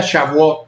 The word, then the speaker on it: Shavuot: de Pentecostés, que también en el idioma judío o hebreo más bien se pronuncia Shavuot.